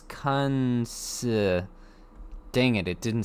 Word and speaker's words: Kunce: His name is Lucas Kuntz. Oh. That's for the AI. I want to clarify, YouTube, that is Lucas Kunce. Okay, I am not saying a T in there. It's Lucas Kuntz.